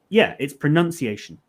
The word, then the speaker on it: pronunciation: Pronounce and pronunciation are both spelled and pronounced differently, but it isn't always